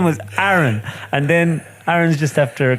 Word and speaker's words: Aaron: be picked on so she called me Aon but the pronunciation of it is Aaron yeah but she picked